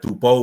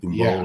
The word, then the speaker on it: Tubou: But I think the Fijians pronounce it, you know, in the dialect or the language, the B almost like Mbula, you know what I mean? So it's like Tumbo or whatever.